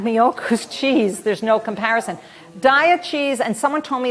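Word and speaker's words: Daiya: that I've had miu's cheese there's no comparison Dia cheese and someone told me it's pronounced DEA I don't know but someone who knows the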